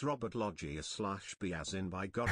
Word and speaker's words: Loggia: how to say it that's right logia Robert Loggia r as in oh my God is that